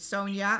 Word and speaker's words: Sonja: your first name right is it Sonia or so Sony yeah did I say no you said it right the first time kudos to you you